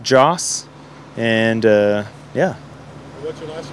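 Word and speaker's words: Jas: It's spelled J-A-S, Joss.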